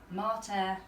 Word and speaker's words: mater: Martha and Pater or Mater and Pater, Yeah. but they don't rhyme. Because pater has a short A and mater Has a long has a long A, so they don't actually rhyme.